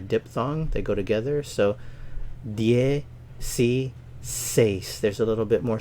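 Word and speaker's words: diez: Ocho nueve nueve nueve dies vs yes the Z here is pronounced like an S and the D is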